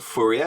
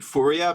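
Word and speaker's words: Fourier: I would have thought the French would call it Fier Fier but I don't know I'm going to call him fua because that's how I've heard um you know like uh fua transforms just pronounced so he was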